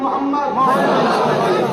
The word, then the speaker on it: মুহাম্মদ: আপনারা সবাই একবার বলুন মুহাম্মদ সাল্লাল্লাহু আলাইহি ওয়াসাল্লাম, আপনারা উচ্চারণ করুন মুহাম্মদ। খেয়াল করতে কোন নবীর নাম নিলে দুই ঠোঁটে ঠোঁট ঠেকছে, বলুন মুহাম্মদ।